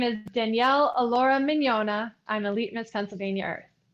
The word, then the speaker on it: Mignogna: Um, it's Adrian from the pageant project and I have with me, wish me luck, Danielle Allura Minona. God, I butchered that.